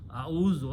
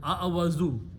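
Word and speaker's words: أعوذ: Now a'udhu billah, a'udhu, simple meaning is I, easy to pronounce, a'udhu instead of a'awazu.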